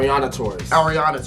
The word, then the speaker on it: Ariana: the last video and I messed it up but it's ar Ariana regardless regardless we have